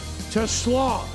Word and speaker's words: TeSlaa: Goff, Isaac TeSlaa, plugged in. It's spelled like Tesla, but it's TeSlaa.